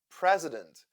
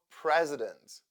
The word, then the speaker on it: president: I I I animal president the second syllable is UN stressed and that is why I sounds like uh therefore i i i u president o as sound carrot